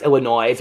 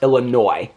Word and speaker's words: Illinois: weekend and I pronounced Illinois with an S. Illinois is not pronounced with an S. Okay, it's pronounced Illinois.